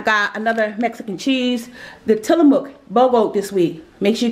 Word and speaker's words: Tillamook: we all know Tillamook it is pronounced Tillamook I Googled it Google some things you